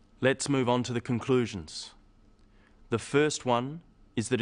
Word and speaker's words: conclusion: The wrong stress makes it hard to understand. So, conclusion, not conclusion. Products, not products.